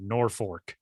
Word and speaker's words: Norfolk: me, I don't know, put a second R in there if that's how you want people to pronounce it then.